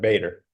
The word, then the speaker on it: Bader: today I'm joined with David and is it Bader or B or how do you pronounce it you got it Bader Bader okay sweet and I got some great news